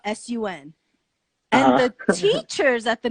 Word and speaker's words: Sun: a vein trying to pronounce her name like soon he like yeah and she would tell them that it's like sun like in the sky like